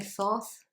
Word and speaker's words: Thoth: And I have paired it with Thoth, or as Americans say, Thoth.